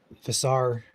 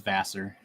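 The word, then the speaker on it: Vassar: between Frankenmouth and uh Visar, but Millington to be on deck for that. What's the official pronunciation of that? Go ahead, Joe. That one, by the way, is Vasser.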